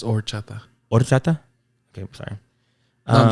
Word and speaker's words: horchata: Don't mention the H. Don't pronounce horchata? It's just horchata.